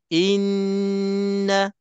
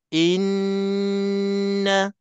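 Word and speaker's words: إنّ: semuanya makna yang satu jadi cara cara bacaannya Inna Inna k tekan panjang dua harakat bagi puas betul-betul bunyinya berdungungnya bacaan kita barulah kita terus teruskan kalau tidak bacaan kita tak cukup dengung tak cukup wajibul ghunah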